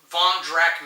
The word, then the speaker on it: Drakk: We're going to do the Drakk Manor expansion.